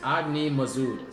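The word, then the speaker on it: Agnimazud: Most people don't know how to say his name. It's Agni Mazud. Say it with me.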